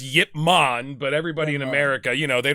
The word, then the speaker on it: Ip Man: Yip Man, or for our English speaking audience, IP Man. IP Man. IP Man. Martial arts. Yeah. It's actually pronounced Yip Man, but everybody in America, they don't say gyro, we say gyro.